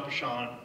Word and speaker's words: Peschong: hear me great okay my name is poor Sean normally it's my name that's butchered the intros as a Luxembourg American it's